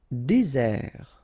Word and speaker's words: désert: Désert, okay, remember, final T not pronounced, désert. And really this z sound just because you get one S between the two vowels.